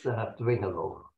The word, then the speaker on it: Dwingeloo: It's Dwingeloo, that's straightforward.